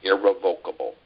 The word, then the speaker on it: irrevocable: It's got a proven court history, and it's irrevocable or irrevocable. We have an ongoing battle, folks, with some attorneys. It's irrevocable. That's how they say it. No, it's irrevocable. Irrevocable, right.